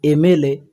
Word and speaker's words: MLA: Here M is consonant, but when I say AM, at first A is coming.